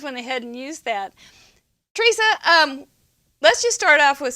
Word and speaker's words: Tresa: We have seen Tresa is T-R-E, like tree saw, right?